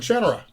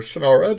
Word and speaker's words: Shannara: and Summer Days, and Shannara, Yes. or Shannara, depending on the way you like to pronounce it, Yeah.